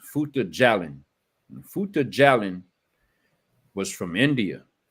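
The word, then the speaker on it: Fouta Djallon: But a minute ago, when we were talking about the caliphate, I put in the chat, and it's pronounced Futa Jalin.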